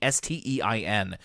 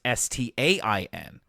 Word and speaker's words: Berenstain: So some people see that last name and think that it should be Stein and not Stain for whatever reason.